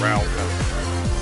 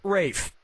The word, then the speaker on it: Ralph: Yep, Rafe Fiennes' first name is spelled like Ralph, but pronounced Rafe.